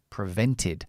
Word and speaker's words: prevented: here and we stress prevented remember that the regular verbs in the past the Ed we never say Ed but after the letter t or d the pronunciation is ID prevented prevented so the rain